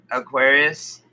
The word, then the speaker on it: Urantia: if i don't know aquarius yeah that's how you say it but it's spelled the way i put it you u-r-a-n-t-i-a it means it means